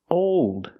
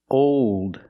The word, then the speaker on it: old: let's do these words old cold told fold here we're using a long o sound but it changes because of the dark L the long o is